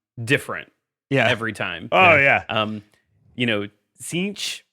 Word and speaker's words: Tzeentch: Tzeentch, sometimes you get a little T at the beginning. It's there, but sometimes you get it.